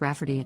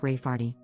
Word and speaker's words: Rafferty: to name my niece Rayfarty, pronounced Rafferty, not at all like Rayfarty.